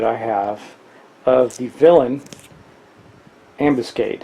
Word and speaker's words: ambuscade: Now, here is an extra copy that I have of the Villain Ambuscade. I think that's how you pronounce it, like ambulance, but ambuscade.